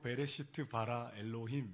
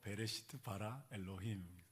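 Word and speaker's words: בראשית ברא אלהים: 하나님이 당신을 지으셨습니다 이제 구약 성경 오너 히브리어로 베레시트 바라 엘로힘 이렇게 됩니다 저도 히브리어 잘 못하지만이 문장이 너무 멋있어서 외웠습니다 멋있지 않나요 발음도 베레시트 바라 엘로힘 번 따라 보시겠어요 베레시트 바라 엘로힘 시 바라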